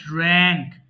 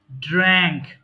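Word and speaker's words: drank: পান করা ড্রিঙ্ক ড্র্যাঙ্ক ড্রাঙ্ক মাঝখানের এটা হবে ড্র্যাঙ্ক ওকে উচ্চারণটা হবে কিন্তু ড্র্যাঙ্ক এরপর আসেন ইট খাওয়া ইট এট ইটেন এটা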